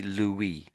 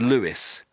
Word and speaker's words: Louis: is has to be Louie. Louie. The French always pronounce this name Louie. But and um how do I say this? So sometimes the English will say this name as Louie as Lewis.